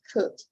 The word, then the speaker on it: could: to continue the pronunciation, we don't pronounce letter L, right? It's would, and it's could, right? It's not would, it's not could, right?